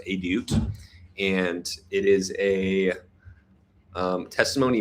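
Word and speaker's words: עדות: Now, edit is Hebrew for testimony, which is, it's actually pronounced edut, and it is a testimony means essentially like God's story in your life, or like the story that God is writing.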